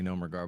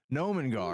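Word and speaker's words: Gnomengarde: I'm going to say nomer guard, but that ain't how you say it. Nomen guard.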